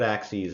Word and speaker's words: axes: axis you pronounce that axes it is spelled the same as the axes you chop with and so that is